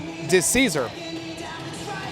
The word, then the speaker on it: DeCesar: by a fan that the correct pronunciation of the name is actually DeCesar.